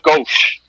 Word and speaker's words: Ghose: It's actually gauche. Gauche. Gauche, like left.